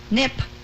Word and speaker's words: Knipp: Nip. Nip? You don't pronounce the K? You never pronounce not the a K. knock. It's not a knife. Or knickers.